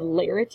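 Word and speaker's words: Laertes: comic relief we have lares is how you say this ponus a son he's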